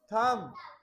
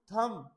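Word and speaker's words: thumb: ये क्या है हमारे थंब थंब नहीं बेटा थम ये इसमें बी नहीं बोला जाएगा थम बहुत ही सॉफ्ट साउंड आती है अगर बी की आएगी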